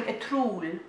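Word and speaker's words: Ertuğrul: So can you tell that we've been watching a Trul? They don't pronounce the G, so it's more like a Trul.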